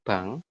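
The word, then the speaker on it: 방: Ini kurang tepat ya, bukan Bang Mulguan, tapi dibacanya adalah Bang.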